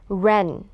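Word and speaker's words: wren: คำ นี้ นะ คะ เรา ไม่ ออก เสียง ตัว Double ยิว นะ คะ ฟัง อีก ครั้ง หนึ่ง นะ คะ When ส่วน คำ ว่า Baby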